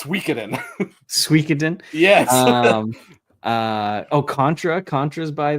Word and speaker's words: Suikoden: It triggers me the way that you pronounce that, but you're right. You But say it's Suikoden. Suikoden. It's Suikoden.